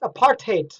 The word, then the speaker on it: apartheid: was for whites only in Afrikaans it's pronounced apartheid which seems somewhat appropriate